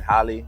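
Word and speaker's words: Halle: and she did a great job at the Holly that's how you pronounce her name great job great job uh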